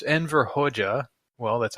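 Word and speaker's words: Hoxha: talking about the Albanian Communist dictator hoxa2 it's pronounced haja and that means like like master in Persian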